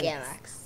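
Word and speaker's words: Gelx: Galax. What does Galax mean? It means, it's spelled G-E-L-X.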